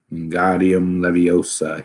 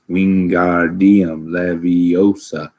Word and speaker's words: Wingardium Leviosa: wasn't having much luck Guardium Leviosa he shouted waving his long arms to the window you're saying it wrong Harry Hermione snap its Wingardium Leviosa like make the garden nice and long you do it then